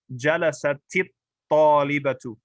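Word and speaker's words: جلست الطالبة: So we're going to double the ta and get there with a kasra.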